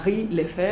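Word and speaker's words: Henri Lefebvre: eh Henry la freve Así es como lo pronuncio yo pero tú nos darás GS pero Cómo se pronuncia hombre y si hay alguien que hable francés se va a burlar de mi asento pero se pronuncia hry lef muy bien Bueno él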